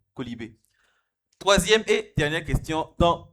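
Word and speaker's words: quolibet: Un colibé, ça s'écrit Q-U-O-L-I-B-E-T, un colibé.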